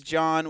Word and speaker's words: John: don't like Jean and my name is John with the silent H it's sad because now